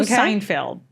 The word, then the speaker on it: Seinfeld: I have a feeling that the show Seinfeld. Yeah. Okay. Is that how I pronounce the name?